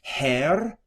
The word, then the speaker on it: Herr: Herr, and you can roll your R's.